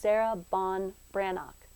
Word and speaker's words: Sarah Ban Breathnach: pronounce the author's name wikipedia tells me it's pronounced sarah bon brannock i apologize if i'm